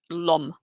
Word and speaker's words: l'homme: Whenever you have an H, you don't pronounce it. So it's just like l'homme, without even, it's there, but you don't say it.